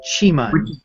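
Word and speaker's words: Qimen: about before the Meen the E is like in sh it has that u sound so so Qi is CH and Meen is M so Chim which is why sometimes it's spelled muu n and sometimes Meen because it's really in between those letters right right yeah there's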